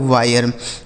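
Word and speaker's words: wire: से हो गया दोस्तों वह इस आई का उच्चारण आई हो गया आर ई से र लिखा है वायर डब्ल्यू आई आर ई वायर टी आई आर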